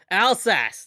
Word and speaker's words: Alsace: You can say it, Alsace. That's it. That's how they say it, Alsace.